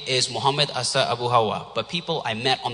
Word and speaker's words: Hawa: And since the British pronounced Hawa as if it were Howard, I made my American name A.